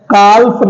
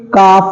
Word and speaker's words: calf: CALF, काल्फ नहीं है, ये काफ है।